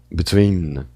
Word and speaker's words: between: Between. Which on stress? The first. Tá lá no segundo. Na segunda sílaba.